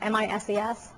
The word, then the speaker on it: Mises: What is the, I don't know how to pronounce it, MISES Institute?